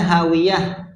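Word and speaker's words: هاوية: perhatikan di ayat sebelumnya Fa ummuhu hawiyah kita bacanya hawiyah Kenapa itu huruf ujungnya Huruf apa hawiyatun berarti huruf apa Ta apa namanya ta marbutah marbutah itu tertutup bulat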